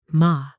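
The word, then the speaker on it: 間: Ma, pronounced as ma, is the space between things, kept not out of a lack of items, but out of intention.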